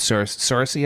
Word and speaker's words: Saoirse: Saoirse, I believe is how you say it.